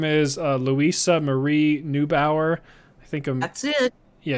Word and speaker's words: Neubauer: is uh luisa marie neubauer i think that's it yeah i think new bower is the way to pronounce that and um they she